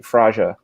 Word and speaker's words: Fraga: Ask a Portuguese how they say Frega, and they actually say Fraja. The Portuguese? Yeah. They say Fraja with a soft G.